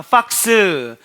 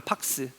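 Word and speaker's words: Pax: 박스. 박스라고 합니다. 박스. 아, 박스는 여우구나. 박스. 박스. 예. 피발음 팍스.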